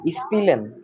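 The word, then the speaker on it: spielen: আর কি তাহলে হচ্ছে যদি আমরা বলতে চাই উচ্চারণটা কি হবে স্পিলেন স্পিলেন হ্যাঁ যদি আমি বলতে চাই হচ্ছে যে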